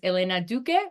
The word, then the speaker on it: Elena Duque: And that is Elena Duque, right? Did I pronounce that correctly?